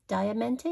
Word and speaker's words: Diamante: Diamante, is how you say it.